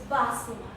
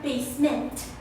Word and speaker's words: Basima: It's Basima. No, not basement. Basima.